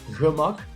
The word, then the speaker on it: gemak: It's like you say it, gemak.